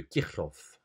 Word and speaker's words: Kirchhoff: Présentons maintenant la loi du rayonnement de Kirchhoff. C'est comme ça que ça se prononce apparemment, c'est un nom allemand.